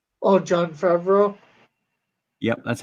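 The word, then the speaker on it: Jon Favreau: I said it's John Favreau. Oh, John Favreau. Yep, that's how you pronounce it.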